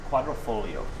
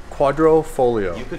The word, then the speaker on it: Quadrifoglio: Quadrifoglio. Quadrifoglio.